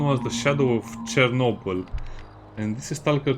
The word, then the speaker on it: Chornobyl: 1 was the shadow of Chernobyl, and this is S.T.A.L.K.E.R. 2 Heart of Chornobyl, which is the Ukrainian pronunciation.